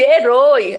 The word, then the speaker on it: herói: O som tem que ser de oi, tá certo? Herói.